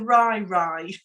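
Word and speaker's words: Rai Rai: you in a minute it was called the she called it the Rye Rye right but I had to ask her to spell it because I would never have guessed in a million years it's r a i r a i right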